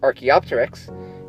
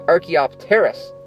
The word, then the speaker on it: Archaeopteris: No, no, not the bird Archaeopteryx. This is Archaeopteris. See, it's spelled differently. It's not confusing at all.